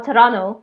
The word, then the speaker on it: Toronto: Yeah, I lived in Toronto, or Toronto, as the locals say. I can't quite say it like that, but yeah, they say like Toronto.